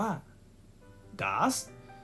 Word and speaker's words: does: คำ ว่า What ครับ ดี OS ต้อง อ่าน ว่า ดาส ซึ่ง does ร่าง เดิม